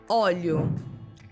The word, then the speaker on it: óleo: The same happens with the pronunciations of olho, eye, and óleo, oil. The pronunciation for these two words is almost the same, but the difference is made on the first vowel, óleo and olho.